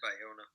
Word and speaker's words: Bayona: How did you pronounce his name? I said Bayona.